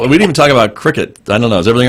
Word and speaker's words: Cricut: it's FPL and it's spelled cricket like the device, CRICUT.